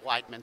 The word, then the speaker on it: Weidman: Okay, I said Weidman, so I was wrong. I've been saying Woodman and nobody told me I was wrong, so.